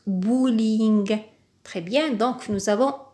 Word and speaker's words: bowling: tension ici bowling bowling c'est toujours un mot d'origine anglaise ça se prononce bowling très bien donc nous